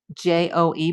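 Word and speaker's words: Djo: But in music he's he's it's spelled D J O E, but it's still pronounced Joe.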